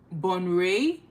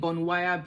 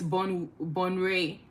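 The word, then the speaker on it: Bonwire: because I was saying Bonwaya before. I was just pronouncing it how it was spelled, and yeah, that wasn't correct, but it's Bonray essentially.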